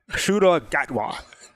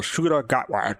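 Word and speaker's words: Ncuti Gatwa: to learn I had to learn how to pronounce suda gatw that's how you pronounce the new doctor the current doctor's name so suda gatw that's is um first not his first appearance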